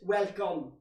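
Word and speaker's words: welkom: missed the trick welcome it's welcome that's how you say it w-e-l-k-o-m for ah she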